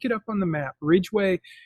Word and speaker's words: Ridgway: Ridgeway is spelled Ridgway.